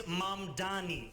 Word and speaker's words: Mamdani: And furthermore, the name is Mamdani, M-A-M-D-A-N-I. You should learn how to say it because we got to get it right.